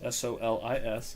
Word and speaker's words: Solis: Solis, Solis is the. I'm not from here. I understand. I've heard a few people mispronounce it, so I will just making sure it's clear.